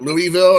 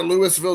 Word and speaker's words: Louisville: when people say that the biggest city in Kentucky, and everybody says, oh, you're talking about Louisville?